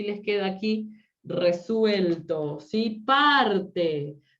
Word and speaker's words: parte: Parte es grave, ¿sí? Parte, perdón. Parte es una palabra grave. ¿Por qué? Es grave porque está acentuado en la penúltima sílaba, ¿sí? Y termina en vocal, no lleva tilde.